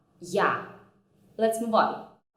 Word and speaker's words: я: A, ya. You can see that ya basically consists of the consonant y and the vowel a, and my lips remain in the same position for the both of them.